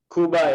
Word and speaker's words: Cuba: Cuba is correct. Cuba is the Spanish pronunciation. Okay. Spanish? English, we say Cuba. Like Cuba. but Spanish doesn't have that cube sound. They say cub.